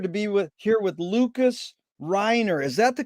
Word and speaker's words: Lucas Reiner: and a pleasure to be with here with lucas reiner is that the correct way to pronounce it lucas you did great jerry lucas